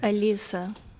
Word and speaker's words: Elisa: It's pronounced Elisa. because it's Elisa. Okay, all right.